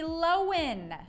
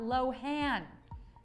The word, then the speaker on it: Lohan: back the star is lindsay lohan not lohan and she starred in